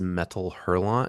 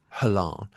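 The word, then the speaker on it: Métal Hurlant: called, I believe it's Metal Hurlon is how you pronounce it. My French is awful. You probably lose the T at the end. Halan.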